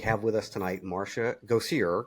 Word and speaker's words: Gosier: Go see her. Correct. Yes, correct. Go see her. I pronounce that correct.